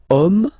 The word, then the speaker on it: homme: we've got the word homme, man, okay, but then it starts with H as in French, H is not pronounced, so the first sound that we hear is O.